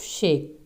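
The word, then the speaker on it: sake: popular drink होता है, सा इज़ प्रोनाउंसिएशन लाइक फा इन father, this is a extra knowledge for अस, and care rhymes with way, means ये जो vocabulary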